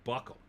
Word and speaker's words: buccal: Ardent buccal, the fat from the cheeks, what they used to call baby fat when you were younger. See, that's ridiculous to remove that. Pronounced like buckle.